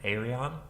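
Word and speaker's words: Ayreon: come back to them what's how do i pronounce a a-y-r-e-o-n aerion that was the big prague project that there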